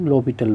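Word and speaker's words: L'Hôpital: यानी D hello हॉस्पिटल जिसे लिखते हैं और इसका प्रोनाउंसिएशन लोपिटल रूल होता है, तो इसको अप्लाई कर सकते हैं।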